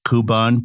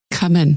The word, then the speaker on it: Cubbon: And then I was fascinated by the palace, but also if I'm pronouncing this right, the Kuban Park. Cubbon.